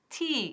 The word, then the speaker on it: tea: Would you like, hemos visto la pronunciación y todo, would you like, y aquí, some tea, y no some té. Tea, es largo el sonido.